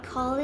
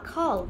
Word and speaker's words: called: า ไ ม่ อ่ า น ว่ า called เ ร า จ ะ อ่ า น ว่ า called น ะ ค ะ มี ค ว า